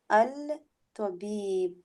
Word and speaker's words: الطبيب: من هذه المرأة هي زوجة الطبيب. Remember, Aisha, the ta is a sun letter. Yeah. So we don't الطبيب pronounce the lam.